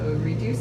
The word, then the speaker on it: Redyoos: So reduce is spelled R E D Y O O S and it was actually